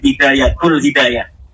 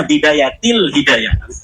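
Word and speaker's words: بداية الهداية: Kenapa ada huruf jer B katanya dibacanya bidayatul hidayah? harusnya bidayatil hidayah.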